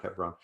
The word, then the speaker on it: Hebron: i'm thinking of and they pronounced it hebron by the way not hebron um it uh the